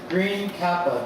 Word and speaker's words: Green Kappa: say this green guy say green kappa kappa 1 queen gappa green kappa because there's no k n app yeah like i was like it's it's green kappa yeah green kappa and sphere reaper double